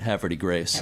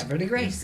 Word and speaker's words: Havre de Grace: And they pretty much all said Havre de Grace. Havre de Grace. It's like, almost like it's one syllable or something. It's one word, and it's got multi-syllables. Havre de Grace.